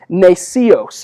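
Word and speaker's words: γνησίως: That word naturally, if I can find it here, it's a fancy Greek word that is actually pronounced nasios.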